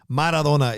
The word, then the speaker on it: Maradona: Maradona is how you say it. Yes, let me pronounce everything and then go, oh, yeah, I